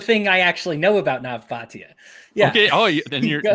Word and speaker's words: Nav Bhatia: You're about to talk about the thing I actually know about Nav Bhatia. Yeah. Okay. Oh, then you're pronouncing his name.